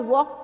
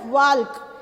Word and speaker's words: walk: Running सबसे fast होती है ना, तो सबसे स्लो मूवमेंट क्या है, क्रॉल है, उसके बाद हॉप करना, कूदना, उसके बाद वॉक करना और उसके बाद रन करना, दौड़ना।